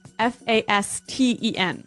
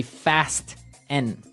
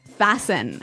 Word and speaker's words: fasten: It's spelled F A S T E N. Right. So, it would be fast N. No. No. Right. Fasten. Fasten the t kind of becomes silent.